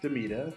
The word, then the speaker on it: D'Mita: the ethics of hacking my name is Damita that's spelled D m i t a or some of you